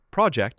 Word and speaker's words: project: Project as a noun is project.